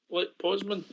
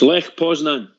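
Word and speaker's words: Lech Poznań: How would you pronounce that? Bridgeman? Lech Poznan. It's Lech Poznan.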